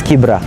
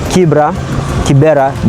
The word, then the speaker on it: Kibra: So the official name of Kibera is Kibra, which means a forest. So we normally call Kibera because of the mispronunciation from the Germans, Indians, and the British who were in Kenya.